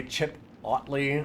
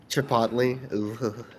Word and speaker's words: chipotle: good that one's pretty good i intentionally say chip ottly oh god chipotle i i do that sometimes too but i